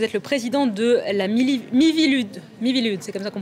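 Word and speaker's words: Miviludes: Vous êtes le président de la Mivilude, c'est comme ça qu'on prononce, la mission interministérielle de vigilance et de lutte contre les dérives sectaires.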